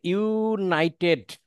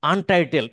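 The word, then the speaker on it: untitled: অপেক্ষা করতে হবে এইখানে এই যে ইউনাইটেড টাইটেল আসলে কিন্তু ইউনাইটেড না অনেকে এটা উচ্চারণ করেন আনটাইটেল স্প্রেডশিট আনটাইটেল মানে কি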